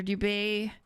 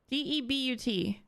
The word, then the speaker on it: debut: Imagine putting the song on your duvet. Duvet? No. I always pronounce it wrong. Did I pronounce it correctly? Duvet? Hold on, I always pronounce it wrong. Debut.